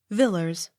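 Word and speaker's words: Villiers: v i l l i e r s villers w a l d e g r a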